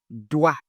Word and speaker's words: doigt: So we have d and wa. We pronounce as doigt, doigt.